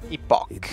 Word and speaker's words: Epoch: Epoch. Now, which, speaking of. A pronúncia do jogo é epoch.